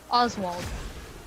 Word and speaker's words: Oswald: Cause my brain's like, yeah, the S should sound like an S. This is like a Z sound, so Oswald.